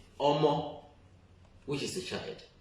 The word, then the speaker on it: Omo: which is the child, Omo, everybody will just write O-M-O. It will get you Omo. It's as simple as ABC. If I say Omo, everybody will just use the English part of it, the pronunciation of English,